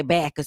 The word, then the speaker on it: Bacchus: Bacchus, Bachus. It's spelled with 2 C's, 1 C. Okay, nice. Bacchus. Okay, sometimes Bacchus, but we say Bacchus because we country from Hernando, Mississippi. Okay, all right.